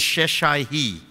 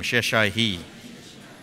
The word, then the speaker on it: Sheshai: Now the first son's name is Sheshai-hi. Everyone say it, it's a hard name, Sheshai-hi. That's how it's pronounced in the Hebrew.